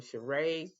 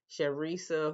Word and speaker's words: Charresse: I can't say this lady name Charresse. Her name is pronounced with SH, but it's spelled CH. Charisse, whoever, she coming over.